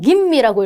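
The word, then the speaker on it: 吟味: 읽는 거는요. 김미라고 읽어 주시면 돼요. 김미.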